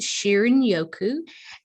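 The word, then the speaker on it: 森林浴: The Japanese term is pronounced Shinrin-yoku, and there's a literal translation meaning bathing in the healing atmosphere of the forest.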